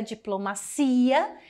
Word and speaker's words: diplomacia: vocês já perceberam que em português é diplomacia e em espanhol diplomacia ele é heterotônicos das